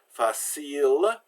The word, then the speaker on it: facile: So we can have words like Elles, so that final E is silent, facile, the final E is silent, and table, the final E is silent.